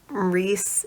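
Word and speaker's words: Rhys: Like, Reese is just like Reece, but spelled weird.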